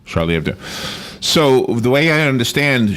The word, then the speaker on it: Charlie Hebdo: newscast online and I heard them saying it Charlie Abdu is how they pronounce it all right Charlie Abdu so the way I understand Charlie Abdu it's